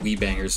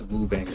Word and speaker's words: Woo Bangers: I mispronounced your name I think I said wee bangers at first but it's woo bangers as I see now what how did